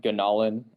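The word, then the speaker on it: Gunalan: right my name is ganalan so uh yeah hopefully it's just pronounced gonolin uh if you're worried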